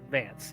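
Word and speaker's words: Vanth: i guess oh so like it's supposed is pronounced vance even though it's spelled band i guess his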